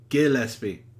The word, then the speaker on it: Gillespie: Gillespie. Not J.